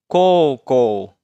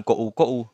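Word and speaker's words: 高校: Yang kelima, koukou, SMA. Dibacanya juga bukan kou-kou, tapi koukou. Karena U di sini bunyi vokal panjang dari huruf O, bunyi O ya.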